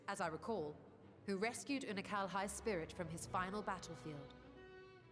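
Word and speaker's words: Unukalhai: You remember Unakalhai, Oh, the unusual child we met during our troubles with the Warring Triad?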